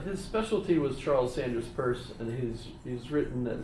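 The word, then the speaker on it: Peirce: U and and then we'll pick on James and and Charles Sanders purse. And it's pronounced purse.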